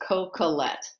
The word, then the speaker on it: Coquillette: and she's very famous you stamp it down no inflection is just coca-lette you just you just